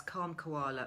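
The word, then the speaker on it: Kalm Koala: So that's Calm Koala, which is spelled K-A-L-M. Calm Koala, as in K for calm and K for koala, all one word.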